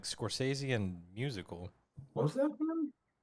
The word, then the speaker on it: Scorsese: Scorsese. Some people call him Scorsese.